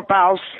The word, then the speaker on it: Bouse: that's okay Geraldine Palmer bouse like Mouse bouse I always tell her